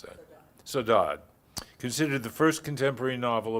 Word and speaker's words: Saudade: Her novels include Saudade, how do you pronounce that? Saudade, considered the first contemporary novel about Portuguese Americans